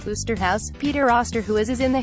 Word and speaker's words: Oosterhuis: And Scully has a field day with Osterhuis, whose last name is pronounced Oosterhuis.